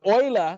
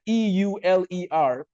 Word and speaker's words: Euler: Now, I don't know if the teachers on this call have studied the life of Leonhard Euler, but Euler, spelled with the letter E-U-L-E-R, Euler, some people call him Euler.